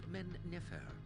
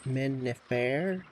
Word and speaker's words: Men-Nefer: has ordered the founding of an imposing capital at Men-Nefer, from which he may govern this fledgling nation. Men-Nefer. I think I've been pronouncing it Men-Nefer, so I have had the emphasis on the wrong syllable.